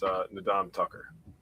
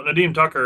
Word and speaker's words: Nadeem Tucker: It's Nadam Tucker. I said his name wrong. I'm sorry. I kept saying it wrong, dude, when I was writing about him. I'm like, yeah. All righty. So Nadeem Tucker is actually my other